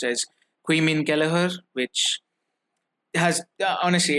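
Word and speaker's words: Caoimhín: out is pronounced as quein ker which has honestly it has no relation to the spelling whatsoever but uh it's Irish it is what it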